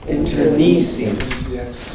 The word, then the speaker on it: internecine: Internecine. Change the accent to the third syllable.